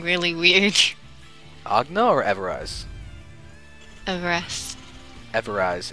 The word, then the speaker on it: Everize: Everize. Everize. It's like ever Everize. And eyes.